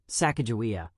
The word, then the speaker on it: Sacagawea: But for the purposes of this video, we will pronounce it as Sacagawea.